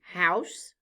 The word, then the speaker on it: house: Say the word again after me, house. Look at the letters in the word. Let's spell it out loud together. H-O-U-S-E. The letters O-U stand for the sound ow. The E is silent.